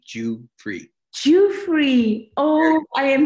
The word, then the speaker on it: Giuffre: hi dr goofy how are you i'm good i'm good i'll i'll teach you how to pronounce my name it's jew and then free j-u and then f-r-e-e jew free jew free oh i